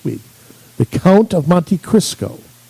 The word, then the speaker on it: Cristo: The Count of Monte Cristo. Right? Cristo. Cristo? Yeah. I thought it was Crisco, like the oil. No.